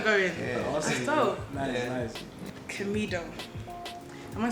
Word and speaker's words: Camidoh: Camidoh. Am I saying it right? Yeah, most people get it wrong, but anyhow you mention it, I'm cool. It's Camidoh.